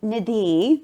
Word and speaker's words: Nidhi: And Nidhi, that's actually the Indian pronunciation, means precious treasure.